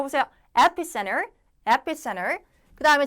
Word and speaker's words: epicenter: 그 이제 우한이 있죠 epicenter epicenter 앞에 강세 해두시고 따라 읽으면서 하세요 지금 여러분들 이게 감각이 항상이 안 되면은 가소도 잘 안 나와요이 철자를 우리가 외우는 시험이 아니기 때문에 내 보세요 epicenter epicenter 그다음에 자 광범위하게